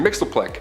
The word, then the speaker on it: Mxyzptlk: His real name doesn't even translate into Earth's languages, but we collectively pronounce it as Mr. Mxyzptlk.